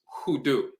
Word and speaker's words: hoodoo: popularly by the aan term unu which is pronounced hudu is from the aamu aan dialect undu means